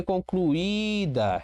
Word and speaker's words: concluída: Olha a regra do hiato aqui. Concluída. Houve uma separação de tons, houve um hiato. Este I está sozinho e é a sílaba tônica, ok?